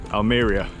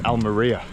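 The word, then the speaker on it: Almería: laughing at us at our pronunciation of aliria it's Al Maria another bik pack of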